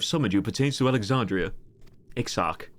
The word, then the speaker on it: Exarch: The Crystal Exart. Exart? The Crystal Fart. The matter for which I have summoned you pertains to Alexandria. Exarch. That's how you say it.